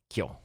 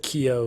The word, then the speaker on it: Kyo: we first talk about how his name is pronounced kyo okay good i watch the dub man so you're gonna have to just i know but you said keo several times and i've alright so